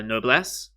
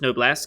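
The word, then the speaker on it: Noblesse: this season uh uh no bless uh yeah i keep on saying noble s because that's how they say it in the show but apparently it's just no blessed because it's like noble bleach like that's a thing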